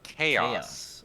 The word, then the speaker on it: Zaus: Oh, so by the way, Zaus is chaos.